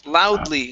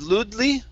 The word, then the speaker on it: loudly: much better and uh this word here is loudly instead of ludely lute is loud loudly